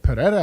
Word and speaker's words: Pereira: If I can get Pereira at plus 250, what's the fun?